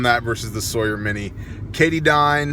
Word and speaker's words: Katadyn: versus the Sawyer mini Cady dine katadyn however Katahdin I believe is the actual pronunciation makes good filters